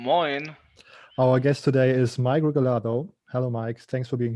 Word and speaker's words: Mike Regalado: hello emma good morning our guest today is migralato hello mike thanks for being here thank you thank you very much and you pronounced my name correctly beautifully nice thank you